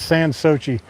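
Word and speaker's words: Sans Souci: And there's some uh there's some con not conflict, but there's just some different views on how to pronounce that, but it's san Sochi.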